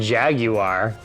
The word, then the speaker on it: Jaguar: You pronounce the U in Jaguar.